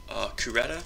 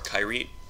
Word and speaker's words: Kyrete: So, I'm gonna go through Kyrete, or Kyrete. Both pronunciations should be fine.